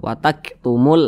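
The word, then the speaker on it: وَتَكْتُمُونَ: di belakangnya barisnya dah tapi muya ini tidak dibaca panjang Karena di sini ada tanda baca sukun nah ini tanda baca sukun atau tanda baca hormati jadi tidak dibaca panjang Jangan dibaca wataktumul nah salah jadi dibaca wataktumul ya wataktumul Nah seperti itu wataktumul haqqo Wa Antum Nah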